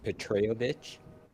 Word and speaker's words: Petrovich: Okay, so my character's name is pronounced Petrovich. Peyovic.